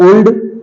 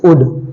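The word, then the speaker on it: would: है डब्लू ओ यू एल डी इट्स नॉट ओल्ड इट्स उड okay next हमारा देखते हैं लेटर सॉरी एल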